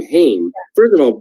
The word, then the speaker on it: Haim: hear the last name hame first of all people that mispronounce it i'm like you're definitely not from toronto if you don't if you can't pronounce hame like but if you